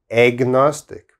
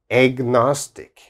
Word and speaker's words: agnostic: is agnostic okay it's very strange pronunciation agnostic there's an a here but it sounds like egg like egg agnostic agnostic and what does agnostic